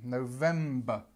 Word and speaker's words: November: November let's just have a look at the pronunciation so o sound and then the stress in VM November and this is our schw that we know